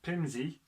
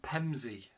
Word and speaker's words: Pevensey: The spellings Pevensey, Pemzua, includes local pronunciations Pimsey and Pemsey.